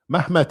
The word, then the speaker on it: Mehmed: Mehmed is the way a Turk would pronounce Muhammad.